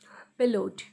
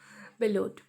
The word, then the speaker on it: bellowed: Bellowed. BE load. LLOWED, load. Bellowed. Here W is silent.